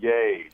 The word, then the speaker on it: Yeh: are you today good now how do you pronounce your last name it's very easy yay when walking around my B SC yay yay that's not bad okay well this is